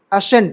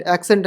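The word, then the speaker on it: ascent: sorry य क्या लिखा एसेंट एक्सेंट नहीं है एक्सेंट एक्सेंट तो एसी से होती है एसेंट यहां भी साइलेंट एसेंट बोल दो सी नहीं रहेगा तब भी वही प्रोनंसिएशन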